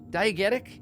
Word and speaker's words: diegetic: of false and I can't remember how to pronounce this where diet diegetic diegetic it's that word there's a false sense of